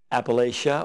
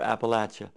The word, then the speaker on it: Appalachia: of how we pronounce Appalachian then we'll give a kind of a brief description of what region we are talking about all right well north of the mason-dixon line most folks say Appalachia that's where I grew